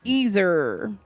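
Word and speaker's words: Yser: U one more time no it's eer that's how you pronounce that y s e r what's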